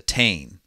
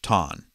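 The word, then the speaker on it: Táin: It is called, as us Americans would say it, the Tain, but pronounced in Irish Tain.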